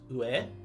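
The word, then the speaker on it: 上: that symbol over there usually this is read as ue but sometimes there are characters added before or after the reading of it and again a character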